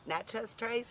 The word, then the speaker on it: Natchez Trace: We're enjoying an awesome steak dinner here at the Natchez Trace.